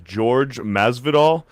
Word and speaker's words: Masvidal: a lot of hate i pronounced uh george masvidal um i guess a lot of people are giving me hate for not saying jorge maslow even though i've heard several mma outlets call him george jorge it doesn't [